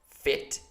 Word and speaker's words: fit: what's the difference uh the first one the short one is also a lower so i have to relax my mouth in order to pronounce it properly the second one the second one is tensed so i have to stretch my the angle of my mouth a little bit and try to uh